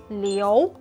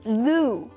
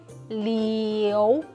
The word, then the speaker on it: Liu: our mouth like this super common family name leo when english speakers say it it sounds like a lou which could be at least three other family